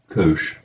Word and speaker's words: cosh: On problem 4, I ask you to calculate the Wronskian of y1 equals, how do you pronounce that? That's called cosh.